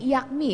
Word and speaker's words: IAKMI: IA-AKMI ini IAKMI ya bacanya ya, langsung IAKMI ya.